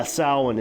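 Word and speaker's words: Samhain: uh yeah but yeah salwan is is how it's pronounced but uh yeah so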